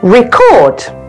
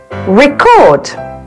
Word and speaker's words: record: very good recording voice the general rules for this special case are as a noun the stress usually falls on the first syllable and as a verb the stress usually falls on the second syllable here are some more